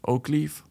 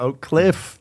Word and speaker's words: Oak Cliff: like yesterday I did a show in u Oakleaf Mhm. near Dallas. In Dallas, Oak Cliff.